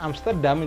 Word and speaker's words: Amsterdam: Bahasa Perancisnya Amsterdam itu pelafalannya adalah Amsterdam. Amsterdam.